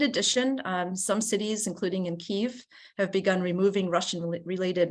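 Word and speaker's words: Kyiv: uh media started going saying instead of Kiev started saying Kiev right it just instantly a change right a senate support for Ukraine the latter of course is a much more is a pronunciation closer to the Ukrainian although no one would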